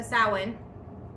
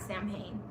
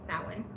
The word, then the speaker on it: Samhain: So sin again, not Sam Hayne sin.